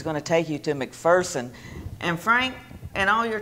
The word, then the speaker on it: McPherson: corrected visitors you know there's no fear in McPherson and so people who would come in and pronounce it McPherson would quickly be corrected and I just love